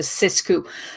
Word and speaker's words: Sixku: So it's the Sixku, and it's spelled Sixku, but because I'm French and it's poetic license, I decided to say it's a Sixku, because 6 in French is pronounced as six.